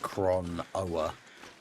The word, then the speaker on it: Chronoa: There's an O before that final A, and then you spell it right. Because it's like Chron-Oa. So Chronoa.